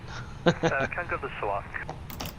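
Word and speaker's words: Kangerlussuaq: Can you pronounce that airport name again for me? Kangaloo Walk.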